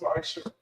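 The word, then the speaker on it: ma'aser: Instead, in Hebrew, and it's pronounced Ma'asher, 10% of every penny of any increase.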